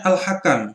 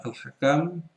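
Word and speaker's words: الحكم: Kemudian berikutnya al-hakam. Nah, ini bukan al-hakim ya. Al-hakim nanti di sini ada ya-nya. Kalau tanpa ya bacanya al-hakam.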